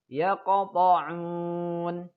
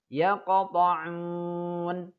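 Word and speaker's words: يَقْطَعُون: Cara membacanya adalah dengan memantulkan lafaz huruf-huruf tersebut secara ringan dan lemah. Secara ringan dan lemah. Perhatikan contohnya. Jim yang di tengah. Naj'al. Naj'al. Qaf yang di tengah. Yaqta'un. Yaqta'un.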